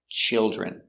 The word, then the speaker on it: children: 2, chill, chill, chilge, chilger, children, children. Remember, the DR makes the J sound, so use that J.